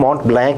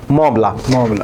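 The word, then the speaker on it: Mont-Blanc: हाँ, फ्रेंच में जैसे इंग्लिश में पढ़ेंगे तो हम माउंट ब्लैंक ही पढ़ेंगे इसको, लेकिन इसे फ्रेंच प्रोनाउंसिएशन है मॉन्ट ब्लांक।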